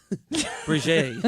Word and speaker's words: Brigitte: Bridget? Real. How do you pronounce her name? Bridget? Brigitte.